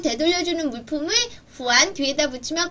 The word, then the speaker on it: 还: 자이 동사 아마 많이 봤을 거야음 잘 들어봐 발음은 후안 후안 후안 그 뒤에는 되돌려주는 물건만 넣으면 돼